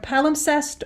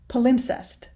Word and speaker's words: palimpsest: found is a palimpsest and it's either palumsest or palimpsest okay um palumsest p